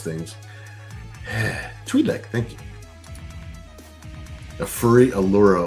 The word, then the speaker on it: Twi'lek: You would think, since I've only been watching Star Wars since 1978, that I would know how to pronounce things. Twi'lek, thank you.